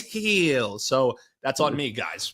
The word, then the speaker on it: Gil: as the pirate so it will forever be Gil for me even though it is Hill Luis Hill so that's on me